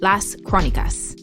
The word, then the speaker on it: Las Crónicas: We're calling these in-between episodes the Chronicles, Las Crónicas. Perfect pronunciation, Lexi.